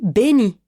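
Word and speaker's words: בני: En effet, quand il dit « mon fils » en hébreu, il dit « béni », car ça se dit comme ça.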